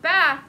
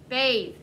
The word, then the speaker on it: bathe: long a t h how would you say that not bath that's short a b who can help him out kingston you can't hear ethan louder bathe b long a t h would sound like faith but mason is bathe